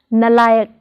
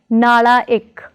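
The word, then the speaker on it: ਨਾਲਾਇਕ: Prefix na plus layak is pronounced as nalayak, not as nalaik, but as nalayak.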